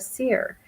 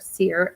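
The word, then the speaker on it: Seir: to esau his brother unto the land of seer the country of edom and he commanded you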